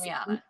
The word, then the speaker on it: Damiana: I heard that correct me how to pronounce this, Damiana or whatever is a Damiana. natural aphrodisiac. Yes, Damiana. Yeah, it's Damiana.